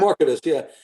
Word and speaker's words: Marketus: And is it Marketus? Is that how you pronounce it? Marketus, yeah.